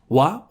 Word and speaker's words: は: So we already saw wa or ha read wa as the topic particle.